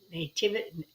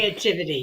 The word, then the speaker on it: naivety: the reality is that they're nativity. What's the word? How do you pronounce that? Naivety.